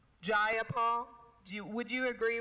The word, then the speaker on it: Jayapal: do you agree with miss j paul that there was no takeover it was just jayapal if you're going to say my name please say it right it's jayapal jayapal do you would you